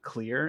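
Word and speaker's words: Xlear: is a nasal saline spray called Clear, and it's spelled X-L-E-A-R.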